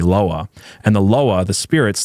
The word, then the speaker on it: Lwa: They call this the Loa, LWA, but it's pronounced like LOA, Loa.